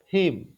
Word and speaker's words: him: Nah, di sini him, him. Itu H-nya tidak diucapkan atau dia seperti tidak terdengar. Him, him.